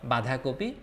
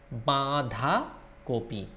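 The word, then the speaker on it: বাঁধাকপি: You see Chandra-bindu here, so the pronunciation will come from nose, not badhakopi. It's badhakopi.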